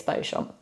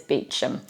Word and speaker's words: Beauchamp: got is Beauchamp now you think that this would be pronounced the French way you know bow meaning beautiful good and then sharp which is filled so Beauchamp surely it's Beauchamp well no it's Beecham that's for the surname